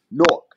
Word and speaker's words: Newark: Newark. I'm going to let you ride out. You know what I mean? Newark.